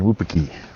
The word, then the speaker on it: Wupatki: So we got Sunset Crater and Wupatki.